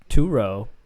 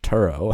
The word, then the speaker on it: Turo: not give it to like to row or something oh no Paul it's pronounced Turo oh you don't know